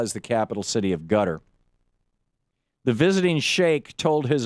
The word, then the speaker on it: Qatar: the New York Times about gutter which is spelled like Qatar gutter support of islamists